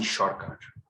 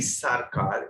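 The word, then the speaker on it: Sorcar: It was the legendary PC Shorkar. Not PC Sarkar, Shorkar. That's how Bengali is pronounced.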